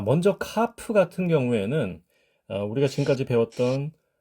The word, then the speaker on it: kaph: 중에 하나가 바로이 카프입니다 그러니까 강한 소리가 있고 약한 소리가 있다는 거죠 여기 강한 소리는 기본 소리고이 문자가 모음 뒤에 바로이어서 나오게 되면 발음이 부드러워지는 특징을 갖습니다 그리고 앞서 언급한이 지금